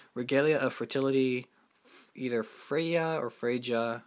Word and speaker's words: Freyja: Next, I run 2, I'm going to butcher her name, Regalia of Fertility, either Freyja or Freyja. I'm pretty sure that J is silent, but Freyja, yeah.